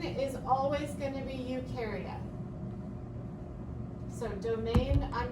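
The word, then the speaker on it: Eukarya: So the only domain that you've got is ukaria. It's spelled over there. E U K A R Y A. If you say ukareote, it's not correct because ukareote is a type of cell.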